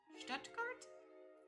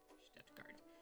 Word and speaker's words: Stuttgart: Stuttgart. Yeah, but she kept saying Stuttgart. And I'm like, don't pronounce any of the T's in the middle. Like, just fuck that.